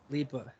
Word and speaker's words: Lipa: Dua Lipa shirt, and and not a it's Lipa, amazing. Lipa.